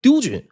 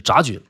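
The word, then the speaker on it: 乣軍: 讀音上呢有所不同，台灣會讀成丟軍。歷史學界在考證遼金史的時候，認為古代的實際讀音是雜軍。我這裡呢約定俗成，都給讀成九軍。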